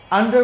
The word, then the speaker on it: under: দিতে পারো আন্ডার আন্ডার clear আন্ডার বলছি রটা উচ্চারণ করি নাই বিকজ অফ সাধারণত কথা বলতে গেলে এই লাস্টে আর থাকলে সেটা উচ্চারিত হয় না ওকে তো আন্ডার গেল